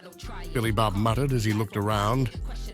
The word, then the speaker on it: Billy Bob: his translator options what my name is ble Bob not some filthy home name it's pronounced Billy Bob the trucker said there